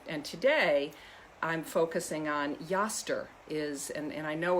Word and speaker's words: Eostre: today i'm focusing on yaster is and and i know if you're looking at the name in the description you think that looks a lot like easter it's actually pronounced pronounced yester um she was an